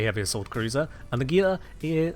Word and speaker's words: Gila: So Ishtar is a Galente heavy assault cruiser, and the Gila is, or Gila for the more correct pronunciation, but Gila makes it clear what I'm talking about.